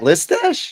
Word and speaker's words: Listache: Rhymes with Matt Mustache. Matt Mustache. What? Pat Listache?